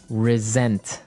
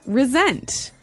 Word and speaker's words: resent: said I resent that resent resent okay now this is spelled exactly like resent like with an S right that's right r e s e n t but you pronounce it like a z mhm resent resent that